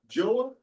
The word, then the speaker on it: Joah: Joah unto Rasha, speak I pray thee, to thy servant in the Syrian language.